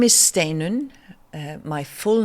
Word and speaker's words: Steinunn: me my name is stun uh my full name is which sounds awfully long but um you pronounce stain like the word Stay N and All Icelandic names